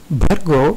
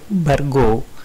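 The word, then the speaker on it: भर्गो: Again, bhargo is often sounded like bhargo, and that needs correction. Dhimahi, dhyo.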